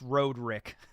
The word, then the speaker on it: Roderick: pronounce his name right it's actually pronounced Road Rick he's Road Rick all right see they're